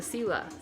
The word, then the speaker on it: Sila: with this um the sila sila i love that sila i'm gonna look more into that term s-i-l-a that's how it's pronounced that's in the inuit